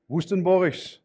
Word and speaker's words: Woestenborghs: say that really so my name is woostenboris i think for the most english speaker speaking